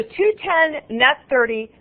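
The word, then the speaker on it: 2/10, n/30: due in 30 days okay so 210 net 30 that's how we pronounce that 210 comma n30 very common terms 210 net 30 we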